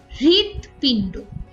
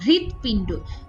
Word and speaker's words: হৃদপিণ্ড: আগেই শোনা যায় অর্থাৎ হৃদপিণ্ড এখানে হ এর সাথে যেহেতু ঋকার যুক্ত কাজেই এইচ এর উচ্চারণ বা হ এর উচ্চারণ কিন্তু আগেই হয়েছে হৃদপিণ্ড হৃদ আর হ এর